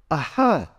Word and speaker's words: visarga: If you recite the Sanskrit alphabet, it's a, a, e, e, u, u, ri, ri, a, I, au, ng, aha. The aha is visarga.